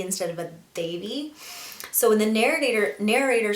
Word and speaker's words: Devi: at least, was when the narrator mispronounced Devi's name. Now, Devi herself, I think in the TV show, calls herself Devi, but I think her friends and other characters say Devi or Davy with a D instead of a Devi.